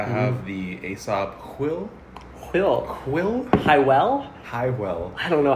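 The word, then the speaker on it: Hwyl: Highwell? I don't know how it's pronounced. It's Every time Quill. I walk in there, I feel like a loser. Don't worry, Ty. It's Quill.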